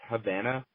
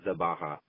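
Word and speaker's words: Гавана: the name of it it's Havana but it's spelled in ceric so it looks like zabaha because it's XA b a um ha but uh if you read that in St it's Havana um and then let's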